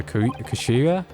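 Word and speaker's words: 頭: oh man I'm correct it's written as head and Japanese but it pronounces uh Kashira all right so Mr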